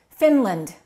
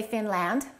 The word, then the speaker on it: Finland: If you said Finland, you're correct. The A is reduced. Finland. Don't say Finland.